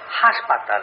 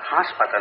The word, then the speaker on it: হাসপাতাল: ওই চন্দ্রবিন্দুটি কোথেকে পেলে? শব্দটা হাসপাতাল, হাসপাতাল না।